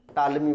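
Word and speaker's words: Ptolemy: इसके अलावे इनसे पहले जो है टालमी का नाम सुने होंगे आप लोग, पी टालमी, पी साइलेंट होता है, टालमी बोला जाता है।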